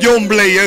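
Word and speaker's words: Jhon Blaze: Y se pronuncia John Blaze, es un nombre en inglés como Juan Navaja.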